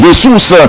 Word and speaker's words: Jesus: fois déjà parce que c'est portugais donc dans la langue portugaise là il a prononcé J. Si c'est en espagnol, on dit Jesus, parce qu'en espagnol, il ne pas prononcer lettre J.